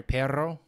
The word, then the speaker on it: perro: Like the word dog is perro. Sorry, perro.